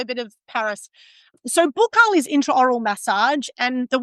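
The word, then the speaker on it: buccal: cash flow retention so bookal is how I pronounce it because I was trained in Paris so in Paris all we said was bookal the whole time Australians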